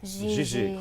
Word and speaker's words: Gigi: GIGI.